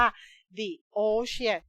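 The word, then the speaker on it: the ocean: ใน ทะเล and ดิโอเชี่ยน ต้อง อ่าน ที่ เพราะ ว่า โอ เป็น สลัด นะ ฮะ อ่าน ว่า ดิ โอ เชียร์ นะ คะ อ้า อะไร มหาสมุทร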